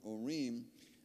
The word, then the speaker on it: Urim: So you, as best as I can tell, where it says 224 Urim, O-O hyphen R-E-E-M, looks like Urim to me.